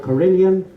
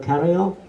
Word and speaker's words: carillon: We pronounce the word carillon. It's actually a French word, carillon. In North America, they are nearer to the original pronunciation. They call it carillon.